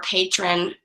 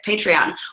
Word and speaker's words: Patreon: we're doing this again well there what's your patrón patrón patreon how do you say it patreon what your patreon dollars go to this weekend